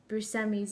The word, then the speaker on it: Buscemi: to properly pronounce Steve Buscemi's name. I've always called him Buscemi, and now I'm like, it sounds wrong on my tongue, but I'm told that that's the proper way to pronounce his name, so maybe we'll just